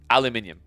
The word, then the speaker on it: aluminium: my Americans in the chat but like it's aluminium okay like aluminium you're not you're not going